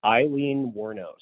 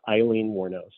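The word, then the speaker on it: Aileen Wuornos: I always mispronounce her name how do you pronounce it it's actually Eileen warnos it's it's just like the name but it's with an A so it's Eileen warnose okay who obviously was was warnose warnos okay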